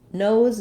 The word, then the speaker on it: nose: Nose does follow the rule of when we have a silent E at the end of the word, the letter often will say its name. So for an O word like nose or code, letter O says the name of the vowel.